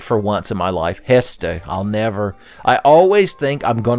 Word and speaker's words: Hestu: Oh, by the way, the best thing about coming to the Lost Woods is that Hetsu. Did I say his name right for once in my life? Hestu.